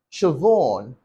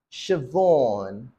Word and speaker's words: Siobhan: the word itself but surprisingly the word is pronounced Shon Shon Shon I think in American English you're more likely going to hear shoban now tell me how many of these words